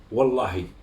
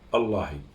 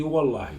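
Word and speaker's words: والله: Quand la lettre wa dans la langue arabe, elle est posée au premier de la lettre dans la prononciation, tu dis wa. Comme par exemple, tu jures dehors, tu dis wallahi.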